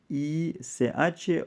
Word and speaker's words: ig: Y que termina en ICH o IG, que se pronuncia en alemán, de hecho, igual, ich.